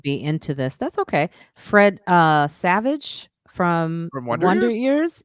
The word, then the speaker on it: Fred Savage: Fred Savage. Did I say it wrong? No, you said it right, but I think that he has a brother. One's in Wonder Years, and Fred one's Savage. Fred Savage.